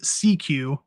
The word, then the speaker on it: SECU: Union that will recognize SECU pronounced CQ oh so it's not even a there is no meaning it's just CQ yep as the official banking